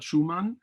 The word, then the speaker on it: Schuman: But Robert Schuman also is, and in this case, it is admissible to also pronounce his name in German, because Robert Schuman, is one of the